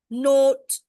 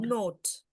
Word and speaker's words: note: So how this is pronounced? Note, not, right? Not. Suddenly with an A, with a E at the end, it becomes O. Not. Note.